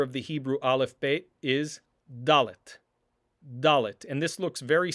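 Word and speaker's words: dalet: not distinguish and so a dalit will always be pronounced as da like in the word davar davar for word or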